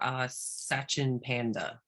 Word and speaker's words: Sachin Panda: Sachin Panda. Is that how you say it? SACHIN PANDA, just like the bear. Cute little panda bear.